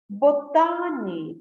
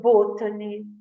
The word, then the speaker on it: botany: first language for example they may say industry instead of Industry bhutani instead of Botany technology instead of Technology comfortable instead of comfortable uh due to the